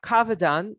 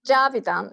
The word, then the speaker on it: Javidan: So, Kavadan, am I pronouncing your name the way you do? It's Javidan. It's like J.